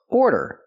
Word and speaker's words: order: aror it's not AR we don't make the r sound like far and car we make the or sound like more and floor or order example I'd like to